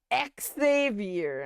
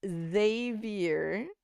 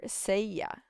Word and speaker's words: Xavier: play and PE and people were trying to say his name is xavior I'm like ah this isn't Xmen thank you very much his name is zavier or seya okay and then we